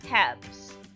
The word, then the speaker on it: halves: an orange one half of an egg three halves silent l change f to v e s